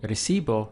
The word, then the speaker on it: recibo: I'm saying I sing if we take say recibo now we have three syllables because we have array.c bow so again I stress the syllable before last which is going to be this one so be ready that's